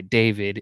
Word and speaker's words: D4VD: The song that I have is Feel It by David. It's spelled D4VD, though, is his name.